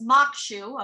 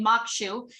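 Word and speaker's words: maque choux: easy favorite crawfish and corn shall pronounce mokshu okay mokshu is best served as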